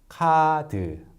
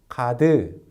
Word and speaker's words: 카드: And the natural pronunciation for 카드 is 카드. And not 카드. The stress can never be at the end.